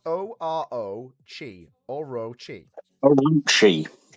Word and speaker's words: Orochi: spelled O R O chi or roi. Orochi. Orochi. Orochi. Orochi. No, it's pronounced Orochi in the anime.